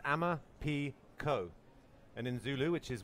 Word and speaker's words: Amaphiko: question Emma Pico is Zulu four wings it's pronounced Amma P Co and in Zulu which is where Emma Pico